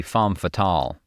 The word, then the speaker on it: Femme Fatale: She was also apparently irritated at how the band pronounced Femme Fatale, saying it should be Femme Fatale.